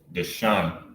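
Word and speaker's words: דשן: a knot right so the transliteration on how you will pronounce this will be duh shun DeShawn which means to to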